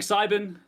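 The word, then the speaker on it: Psybin: And I'm playing Cybin. The P is silent because they're a mushroom. It's a whole thing.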